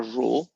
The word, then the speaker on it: rho: is the Greek letter rho, R-H-O, which you will pronounce as if it was the word roll.